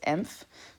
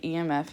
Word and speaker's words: emf: always pronounced it as emph but it's actually emf you say the letters emf and emf is basically